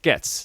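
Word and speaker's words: Goetz: I'm excited to see how that's good context, but pronounced gets."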